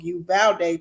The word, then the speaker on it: Uvalde: in a mass shooting in uvadale texas or you bet you valde rather i pronounced it all the way wrong you valde texas has died of